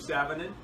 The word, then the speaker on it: Sanonen: Sanonen. And how do you like your last name to be pronounced?